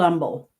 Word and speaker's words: Humble: Old umble. No H. The H is silent.